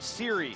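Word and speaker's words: Sohre: Brandon, it is pronounced Siri, even though it is spelled S-O-H-R-E, senior guard at 6'1".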